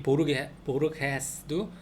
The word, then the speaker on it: Borges: 이 보르게스도 GES 끝에가 GES라 보르게스 헤스 보르게스 이렇게 한다.